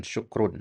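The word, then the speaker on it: شُكْر: Bedakan ya syakaro dengan syukrun ya. Ya, kalau tulisannya kan sama ya. Ya, syakaro syukrun kalau enggak diharakati sama persis itu ya.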